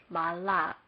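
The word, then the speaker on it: מלך: and add comments and path talk it becomes my luck I will explain this one more time mem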